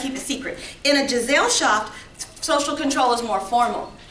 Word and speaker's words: Gesellschaft: And then in a Gesellschaft, the word that Giselle rhymes with is jail.